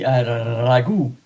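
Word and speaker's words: ragù: It's spaghetti ragu.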